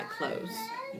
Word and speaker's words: clothes: And there's an e right in here that you don't hear. That e is silent.